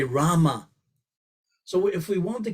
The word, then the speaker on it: Rama: I found myself chanting Hare Krishna, Krishna Krishna, Hare Hare, Hare Ram, Ram Ram, Hare Hare. So I left out 4 syllables. I didn't say Rama.